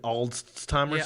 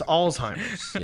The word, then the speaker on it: Alzheimer's: rights away when they have like dementia or alzheimer's that's why you were on your own what was that last one you said yeah and they're just basically reducing after dependence you said old timers alzheimer's alzheimer's wait did i say that right